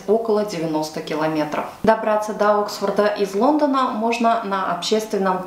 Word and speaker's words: Oxford: великобритании про город оксфорд оксфорд по-английски произносится оксфорд что в переводе означает